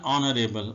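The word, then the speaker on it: honourable: एन ऑनरेबल, अब देखें इसमें एच जो है ये साउंड जो है ना ये इसकी साइलेंट है, ये आवाज़ इसकी हम पढ़ने में नहीं आ रही, ओ की आवाज़ आ रही है, ऑनरेबल, तो इसलिए इसके साथ एन लगेगा।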